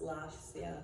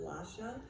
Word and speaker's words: Lasya: Actually, in Ukrainian, it's probably more pronounced Lasya than Lasha. I just thought Lasha was easier to pronounce.